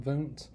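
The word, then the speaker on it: Wundt: involved in psychology wilhelm voont it looks like it's wilhelm lute but it's german so the w is pronounced as a v but wilhelm voont he's considered the father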